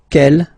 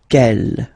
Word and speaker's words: quel: Quelle, masculine form here, will be pronounced exactly as the feminine form here. Quelle. So only one sound, okay?